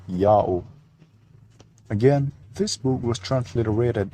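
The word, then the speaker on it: Jahoh: Y sound in Latin, and the H is silent if not the first letter of a word. Therefore, J-A-H-O-H is pronounced Yao, while the other one,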